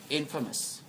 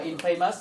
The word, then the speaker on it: infamous: Infamous. Đấy. Như vậy ở đây chúng ta cũng đọc là infamous, mặc dù là từ này thì đọc là gì đấy?